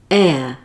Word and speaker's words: heir: Hand, and, high, I, hate, ate, heat, eat, hat, at, hair, air. Did you notice the last word air has a silent H at the beginning?